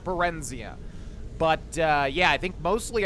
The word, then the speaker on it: Barenziah: So I think it's pronounced Barenziah, not Barenziah.